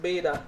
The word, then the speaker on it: Beta: on beta ray bill here that this is pronounced beta not bad luck because this is not better